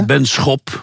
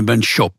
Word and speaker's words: Benschop: They all pronounce it wrongly. It's Benschop, with a sharp sch. But most then say, in England they, or in the US they call me Benschop. They soften it.